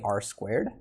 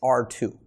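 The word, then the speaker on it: ℝ²: exponent type notation but i don't say r squared i pronounce this the way i say it is r two so r two and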